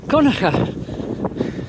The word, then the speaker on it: Kilconquhar: Right, so here is Kilconquhar or Conacher.